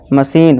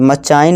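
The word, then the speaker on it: machine: यहां चेम नहीं chemist मशीन मचान नहीं दोस्तों मशीन चेयर रीच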